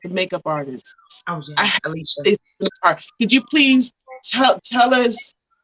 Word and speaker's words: Elychia: It was Alicia Redmond. If they want to look her up on Facebook, her name is spelled ELYCHIA, and it's Redmond, REDMOND, and she is on on Facebook.